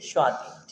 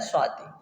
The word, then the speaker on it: स्वाति: है पहुंच गए होंगे स्वाति ठीक है क्या होता है स्वाति तो याद रखिएगा इसका सही उच्चारण क्या होता है चले क्वेश्चन